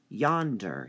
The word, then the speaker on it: yonder: Mark through and then Yonder Yonder has two syllables so it gets two marks notice how we're saying it Yonder Yonder The Yan part is stressed if you said Yonder just doesn't sound right window how many syllables